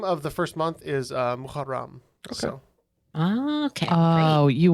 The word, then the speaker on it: Muharram: The name of the first month is Muharram.